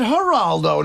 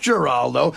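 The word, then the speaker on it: Giraldo: But, but seriously, the producer mispronounced Greg's name. He said Haraldo, not Geraldo. But honestly, you can't fault the guy.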